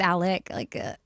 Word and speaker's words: Alex: And then his name is spelled like Alex, but it's Alec.